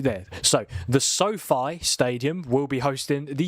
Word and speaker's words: SoFi: The pronunciation is SoFi. SoFi. So it's not Sophie, it's not...